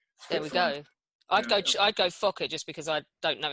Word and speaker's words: Fokker: The Fokker triplane, did I pronounce that correctly?